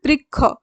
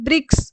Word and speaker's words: বৃক্ষ: যেমন বাংলায় বৃক্ষ শব্দটি উচ্চারণ হয় বৃক্ষ, অথচ সংস্কৃত উচ্চারণ রীতি অনুযায়ী হবে ব্রিক্স, ঠিক আছে?